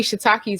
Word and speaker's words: shiitake: personal question, and I was interested in shiitake.